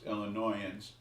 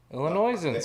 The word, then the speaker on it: Illinoisans: Well, it's Illinoisans. Illinoisans. The S is silent.